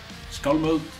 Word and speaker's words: Skálmöld: Skálmöld is pronounced Skálmöld. Skálmöld.